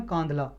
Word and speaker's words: कांधा: है जिसका नाम है कांधला, कांधला कम्युनिटी, सॉरी कांधला नहीं, कांधा, कांधा या कांध, इसकी प्रोनाउंसिएशन कुछ और भी हो सकती है उड़िया भाषा में, KANDHA, कांधा कम्युनिटी।